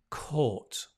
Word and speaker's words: caught: she caught the subway notice the pronunciation court court so catch court she caught